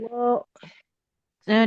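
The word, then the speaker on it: وَاللَّهُ: wallahu a'lamu bima wadu'at. Wallahu, jangan wallah. Hati-hati lafaz Allahnya, jangan seperti ada waw sukunnya ya.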